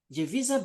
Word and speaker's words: Jevisa: And what this t-shirt says something there, they say Jevisa Beauty.